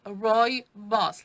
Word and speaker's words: Rooibos: hand so once again this is how we spell it roi boss r-o-o-i-b-o-s and you pronounce it roy boss like roy and his boss it's um roibos goes